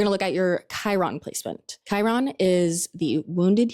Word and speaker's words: Chiron: It's interesting because Chiron starts with a C, but it sounds like a K.